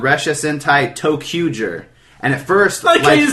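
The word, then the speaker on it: ToQger: like two q and then G but it's pronounced toer but anyway um it's going to be begin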